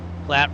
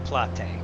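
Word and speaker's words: Platte: Plat River. Okay. So, it's not the Plate, which I didn't think it was.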